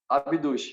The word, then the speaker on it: Abduch: A pronúncia é essa mesmo? Abduch? Abduch, isso mesmo.